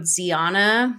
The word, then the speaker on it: Zeona: stay you can use code Ziana which is my name you guys have been saying it wrong the whole time once again oh my